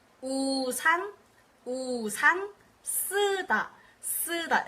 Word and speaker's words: 쓰다: It's a double consonant, but don't freak out. It's not that hard. It's just a double S. You can just pronounce it with one S, and it'll be basically the same for the S.